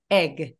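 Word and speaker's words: egg: 그럼 발음해 볼게요 계란 에그 에그 에그 에그 맞아요 이게 우리가 한국어 할 때 애기처럼 너무 벌어지지 않게 애기 에그 이거보다는 에그 에그 조금 짧고 단호하게 소리를 내주시면 됩니다 자 그러면 알파벳은 어떻게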